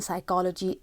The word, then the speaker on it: psychology: The S in Ireland, P in psychology, H in honest, and B in plumber.